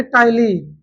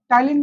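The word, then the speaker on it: ptyalin: को कहा जाता है टाइलीन टाइलीन में स्पिंग बता रहा हूं पी एस टी वाई होता है ना पी एस टी वाई एल आई एन E mouse का फोटो देखना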